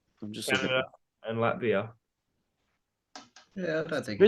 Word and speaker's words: Latvia: Yeah, and they got Lativa. Yeah, mate. Lavia tomorrow. Yeah. Today, sorry. 11:30 at night. So Can we just get? How do you say it, mate? no, I'm not doing that. Fuck you. Latvia.